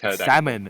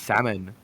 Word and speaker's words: salmon: supposed to pronounce it is it with the l or without the L no without it the L is Sil it's like salmon it's just salmon yeah salmon right so